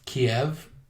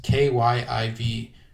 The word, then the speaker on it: Kyiv: to butcher the name, I think it's Kiev. It's Kyiv.